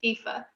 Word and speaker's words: Aoife: it's spelled a-o-i-f-e so it does not look on the page phonetically the way it is pronounced fifa so in america we